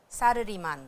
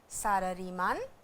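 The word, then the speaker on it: サラリーマン: सारारी मा सालारीमान देस। वाताशी नो ओतो-सान मो सालारीमान देस। और ये ज़रा ध्यान रखिएगा कि इसका प्रोनाउंसिएशन क्या है। ये अंग्रेज़ी के जैसे सैलरी मैन नहीं है, ये सारारी मान देस।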